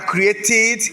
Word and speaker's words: created: Donc lorsqu'on a T ou bien do à la fin du verbe, le ED se prononce id. Donc on a created, connected, divided, visited, invited, ainsi de suite.